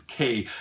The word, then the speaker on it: Quai: That's how you pronounce it, is K.